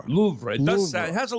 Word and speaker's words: Louvre: There's technically a little "ra" at the end. It's been in the news because of the jewel heist in October. See how it rolls off the Louvre. Louvre.